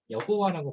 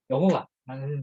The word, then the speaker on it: 여호와: 원래 하나님의 이름을 나타내는 문자에다가 아도나이의 모음을 붙인 여호와라는 것을 오늘 우리는 하나님의 이제 이름, 개인적인 이름으로 부르게 됩니다. 그래서 그래서 이제 여호와라고 부르는 게 오늘날 우리 한국 교회에서 공식적으로 이제 성경 번역에서 채택된 발음이고요.